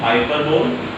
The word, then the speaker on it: hyperbole: This is pronounced hyperbole.